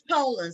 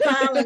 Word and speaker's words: Polland: So it's Poland. So I had them both mispronounced because I thought it was Pollen because it was two L.